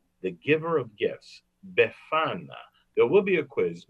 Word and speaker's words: Befana: but kind old witch is known as the befana the giver of gifts befana there will be a quiz make sure you